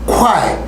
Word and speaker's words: Kwai: Que a palavra do dia é Kwai.